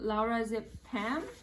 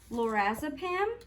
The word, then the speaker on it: lorazepam: and then i take this other medication called laura zip pam um it's a sedative for seizures and it treats seizures so okay i think you mean lorazepam okay that might be the correct way to